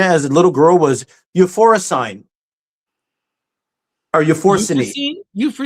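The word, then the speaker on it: Euphrosyne: Euphorine. Euphorine.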